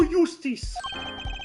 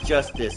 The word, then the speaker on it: Justice: Apollo Eustace. That's justice. Better learn how to say it if you ever want to get some.